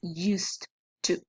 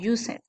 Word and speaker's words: used to: this expression which is used to okay careful with the pronunciation is not using all right it is used used to that in Spanish is